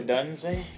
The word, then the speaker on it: Odunze: I'm Romeo Odunze? Is that how you pronounce it?